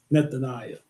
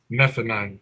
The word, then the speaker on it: Nethaniah: Nethaniah. Nethaniah.